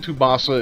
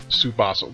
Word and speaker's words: Tsubasa: Okay, Captain Tsubasa is, or Tsubasa, whatever. I think the T is silent.